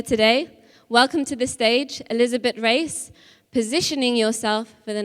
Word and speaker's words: Elisabete: So I am Elisabete. I am Portuguese, so we pronounce Elisabete, and you pronounced it really well.